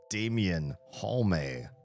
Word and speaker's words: Damian Halme: My name is Damian Halme. Every E is pronounced in my name. It's true.